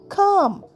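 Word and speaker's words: calm: সি এল এম কাম। এখানে এল silent.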